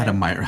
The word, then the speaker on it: Adam Meyer: Adam Meyer. Adam Meyer. I'm sorry. Adam Meyer, because remember, I will never forget Adam because I remember how to say his name because of the Oscar Mayer Wiener song.